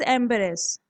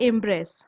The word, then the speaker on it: embrace: Next word is एम्बरेस। इसे हम बोलते हैं इम्ब्रेस। ओके, ये देखने में एम्बेरेस जैसा लगता है पर यह होता है, इसका प्रोनाउंसिएशन इम्ब्रेस।